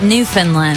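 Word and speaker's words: Newfoundland: happened in is it New Foundland I think New Foundland you say it like new Finland okay New Finland I'm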